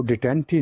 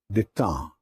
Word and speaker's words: détente: तो ये détente का जो प्रोसेस है ना, इसको डिटेंटी नहीं आपने कहना, it's pronounced as détente and then étang.